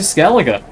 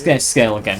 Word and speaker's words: Skellige: That'll be us finally going to Skellige. I think it's Skellige, not Skellige.